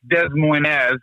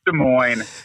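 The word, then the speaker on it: Des Moines: glad to be on I don't think it's Des Moz but I we we'll let you pronounce it any way you feel comfortable Brian I mean you were you were just here you I mean it's de Mo just let's keep it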